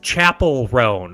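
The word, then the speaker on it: Chappell Roan: The second half is Chapel Roan. It's technically how she pronounces her name, and it's spelled without the E.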